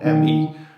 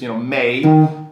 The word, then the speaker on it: me: When you see let's say May, for example, M-E, it would be easy to see like, well, shouldn't that be pronounced me, right? Because that's the way you should pronounce it when you read it in English.